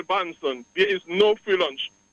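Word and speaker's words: Bahnsen: truths written by David L Branson and that is spelled b-a-h -n-s-e-n-b-a-h-n-s-e-n David L banson there is no free lunch 250 economic streets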